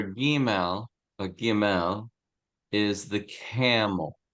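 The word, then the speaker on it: gimel: the letter G which the letter giml has two pronunciations it's a soft G A J and a hard G of G go either one's fine experiment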